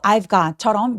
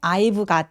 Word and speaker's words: I've got: 여기서 I got이라고 발음하실 가능성이 되게 높아요. 근데 I got 아니고 I've got I've got 이렇게 got처럼 자음 앞에서의 V 발음들은 아주 가볍게 F처럼 그리고 어차피 중요한 키워드가 아니기 때문에 약간 가볍게 F처럼 발음해 보세요.